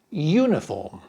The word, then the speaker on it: uniform: The word starts with the letter U but the sound the pronunciation is Y uniform.